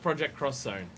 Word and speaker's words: Project X Zone: It's pronounced Project Cross Zone. Oh right, yeah, right, yeah. Yeah, no, it's always cross in Japan, isn't it?